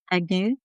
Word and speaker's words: Agnew: Because I'm just worried I'm going to pronounce their names all wrongly. So there's Gloria Yeah. Joel Crosby, Katie Agnew. Agnew.